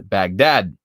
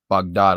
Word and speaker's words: Baghdad: securientes foundation program in baghdad that's actually bog dot i'm pretty sure is how you're supposed to pronounce that but whatever i am